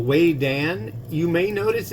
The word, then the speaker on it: Vedan: noodles uh this is by a company called Wayan you may notice it's spelled v d an but it's pronounced Wayan learned that in Taiwan uh this is way